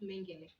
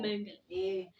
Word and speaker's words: Mengele: There are accounts that state she had an affair with the infamous Joseph Mengele.